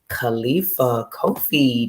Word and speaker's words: Khalifa Kofi: So, ladies and gentlemen, I present to you Khalifa Kofi. Did I pronounce that correctly?